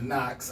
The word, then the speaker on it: Knox: I really want them to hit, but I didn't want to spell it like knock, like knocking. So I just put a little flavor on it, put the X, Knox, Knox.